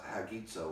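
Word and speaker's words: hagiazo: By the way, you have that little comma before the vowel in the Greek. You have what's called a rough breathing. You add an H in front of it. And you pronounce it hagizo, or you pronounce it with that rough breathing.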